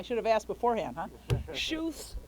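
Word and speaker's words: Schuth: have asked beforehand huh shoes Grove now I asked it's s-c-h-u-t-h not exactly clear how you're supposed to say it shoes grow okay the latest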